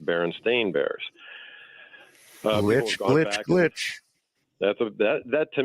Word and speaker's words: Berenstain: I uh being called Berenstein spelled s-t-e-i-n that's right and but if you Google it now everything is spelled s-t-a-i-n and it's pronounced Berenstain Bears glitch glitch that